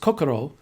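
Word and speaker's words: 心: becomes from their heart and then jean is pronounced kokoro in japanese but in using the chinese pronunciation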